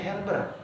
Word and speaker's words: Gerber: yang bernama Johan gerber tapi dibacanya herber Karena J Belanda dia dibaca he seperti gratis jadi harakis Johan her dia lulusan